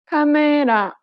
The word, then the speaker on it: 카메라: But in Korean, each syllable is pronounced for the same amount of time and gets equal stress. Listen to the word camera in Korean. 카메라, This principle applies throughout